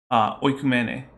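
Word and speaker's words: οἰκουμένη: So if you're going to use the sort of reconstruction pronunciation that is common in Christian circles, it would be oikumene, which meant the world, right?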